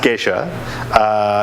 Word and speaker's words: geisha: Well, it's still going to be pronounced geisha. It's named after a town in Ethiopia, and when you're translating